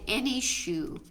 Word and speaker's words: Enyshou: So one beard that has been demonstrated is a beard using the Zentangle pattern called Any Shoe. It's ENYSHOU. And Any Shoe, Can you spell that again?